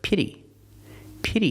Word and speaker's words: pity: look at the word pity has a short e sound like this is it pity the sound is open pity can be used